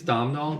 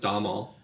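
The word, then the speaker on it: Domhnall: Yeah, it's looks like it's Domal, but I think he says it's pronounced Damal.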